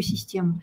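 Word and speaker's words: système: Главное, чтобы оно было не похоже на русскую систему. Систем, систем. Это так в повседневной речи французы будут произносить слово «система».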